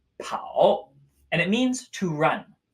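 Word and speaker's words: 跑: it is still a foot this character is pronounced pow and it means to run pow pow pow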